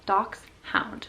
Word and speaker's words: Dachshund: Most people think that it's spelled D-O-X, hound, or whatever. It's a German word, so it's spelled D-A-C-H-S-H-U-N-D. Did I do that right? It's spelled like Dachshund, but it's Dachshund.